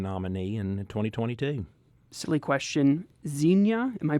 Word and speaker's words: Xenia: So Xenia. Yeah. Okay. No, you're right. 2 syllables.